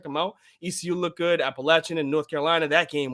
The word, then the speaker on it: Appalachian: north carolina ecu appalachian it's appalachian state by the way not appalachian so say it right um but like that